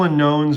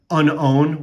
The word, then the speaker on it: Unown: to be whooper you know i have two unknowns or uh i think the unknown or i recently heard that's actually pronounced um unown which makes sense too like the way it's